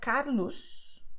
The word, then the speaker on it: Carlos: You have Carlos, which alone would sound like S, Carlos.